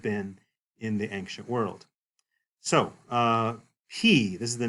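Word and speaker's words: π: So, P, this is the name of this one. It's pronounced like the letter P, so no issues there.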